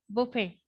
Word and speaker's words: buffet: get this word straight this is Buffet it is a French word where the t is silent so how will you pronounce this Buffet so these were the